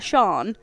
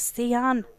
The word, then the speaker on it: Sian: spelled like this, and a teacher called her Sean, and then she really bit back and said it's Sian.